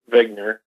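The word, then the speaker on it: Wigner: the name of Zig it's actually like he just spelled with a W uh but he's a his name is Dr Eugene vigner and originally back in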